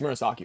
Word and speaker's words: Murasaki: I must have butchered that. And then you go up against all the Murasaki clones, right? It's Murasaki, right?